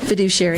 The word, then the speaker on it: fiduciary: a foodish food how do you say it fiduciary fiduciary thanks sometimes it's hard guys but anyway